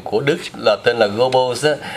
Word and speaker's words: Goebbels: âm của người Pháp, nhưng mà cái chữ đó đọc theo tiếng Đức hay là tiếng Mỹ là đọc là ông tổng trưởng Goebbels.